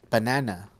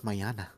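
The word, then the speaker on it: mañana: it now that's cute however he registered as banana oh so he says yeah see you banana that is so cute and I'm like listen here it's Mayana how do you say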